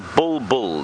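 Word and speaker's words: bulbul: o no it's not it's a bull bull not a boo boo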